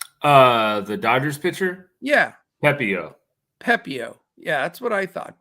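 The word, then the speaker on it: Pepiot: Pepio. Yeah, that's what I thought. Pepio, 10.3K.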